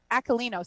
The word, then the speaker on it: Aquilino: Joseph Aquino is in the house. Aquilino. See, I said his name wrong too.